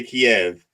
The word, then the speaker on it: Kiev: If you're from the Russians, I think the Russians say Kiev, and the Ukrainians say Kyiv.